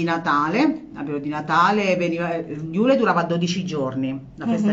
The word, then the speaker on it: Yule: Si pronuncia Iule. Ah, proprio come Iule. È scritto.